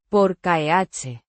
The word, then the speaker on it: por qué: indicates a question, pronounced. Por keh. The, Por. is pronounced like pore in English, and the k rhymes with k.